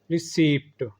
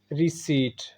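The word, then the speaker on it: receipt: अगला वर्ड है रिसीप्ट, जो कि गलत है। सही है रिसीट। रिपीट after me, रिसीट।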